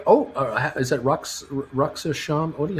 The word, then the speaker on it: Rosh Hashanah: Oh, is that Rosh Hashanah? How do you pronounce it? Rosh Hashanah.